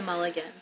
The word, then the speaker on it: Mulligan: Yeah, Mulligan.